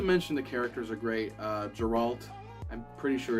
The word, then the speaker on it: Geralt: But in the book here it says this guy is asking for someone that sounds like the name Gerald, so I can only assume it's then pronounced Geralt.